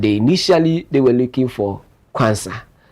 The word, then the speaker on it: Quansah: they were looking for Konsa, which is Quansah. So different pronunciations, different spelling, but same pronunciation when it comes to the semantics of it.